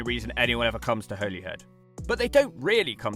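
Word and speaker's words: Holyhead: No, I'm not having someone pronounce it for me this time, but funny story, I actually grew up calling it Holly Head. When I learned that I was wrong, I was so embarrassed.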